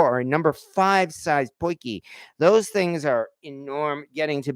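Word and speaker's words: potjie: because like some people, I was pronouncing it Podgy because that's what it looks like.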